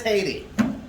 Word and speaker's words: Haiti: How do you think it's pronounced? Haiti. It is Haiti.